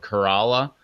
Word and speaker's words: Corolla: we got uh it's it's spelled the same way as a Toyota Corolla but it's called Corolla and it means the